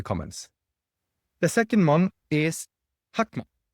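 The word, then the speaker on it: חכמה: The second one is Hakma. Looks like Chakma, but they pronounce it Hakma.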